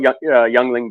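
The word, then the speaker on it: Yuengling: Like I said, I always call it Youngling because it just annoys my American friends. And like I said, every once in a while I'll pronounce it properly and I'll say Yingling, and I'm like, oh, said that wrong.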